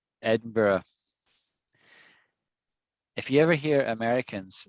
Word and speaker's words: Edinburgh: borough sign edinburgh eddie it's actually hard to say because it's four syllables and americans can't say it i mean they just don't say they say oh we say edinborough ed barrow but it's not ed burrow it's edinburgh edinburgh you got it she's keen on